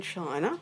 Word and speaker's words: Chi: system of the body it did originate in China and the Chinese word for lifeforce energy is Chi which is spelled Zhi or Qi one is in the